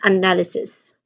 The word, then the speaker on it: analysis: We start with the schwa sound. So the first syllable is the schwa sound. Keep it short and unstressed. And then now, null. So the second syllable, it carries the primary stress. The is a short sound, as in cut, and then followed by an n sound, and l sound. So saying that with say this syllable with more emphasis. All right. This is analysis.